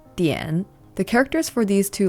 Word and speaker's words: 点: In Japanese, this is pronounced ten. In Chinese, it's pronounced dian.